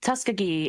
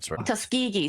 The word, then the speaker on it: Tuskegee: humans are usually black Americans like the Tusk Tuskiggee experiment and what have you. Tuskegee. Thank you. I'm sorry for the pronunciation.